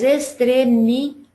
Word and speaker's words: extremidade: Mas extremidade. A sílaba que a gente pronuncia com mais força é o da.